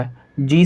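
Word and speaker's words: hedge: आपने देखा यहाँ पर जी है और जी से पहले डी लिखा हुआ है, जी से पहले डी है, तो इस कंडीशन के अंदर डी साइलेंट होगा।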